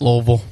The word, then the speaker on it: Louisville: say Louisville or Louisville how Lille it's like mouthful of rocks Lille Lille how the local say it yeah one syllable